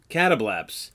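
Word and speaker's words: Catoblepas: The original Greek pronunciation is catableps.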